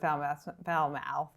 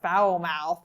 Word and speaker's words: Falmouth: If you are not a full-time resident, or at least a half-year resident of Falmouth, well, now I'm pronouncing it like my best friend Jeff, Foulmouth.